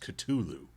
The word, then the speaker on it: Cthulhu: supposed to be pronounced Cthulhu very particular about his Eldridge Horrors I'm guessing he thinks the H is silent well in some ways